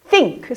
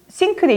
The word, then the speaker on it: think: 직역하자면 I, 나는 think, 생각하다. 이 발음이 왜 중요하냐면 think라고 해버리면 여러분이 개수대로 알고 이 sink돼 있죠. 개수대. 싱크를 써버리면 가라앉는다가 되는 거예요. 배가 가라앉다 식으로.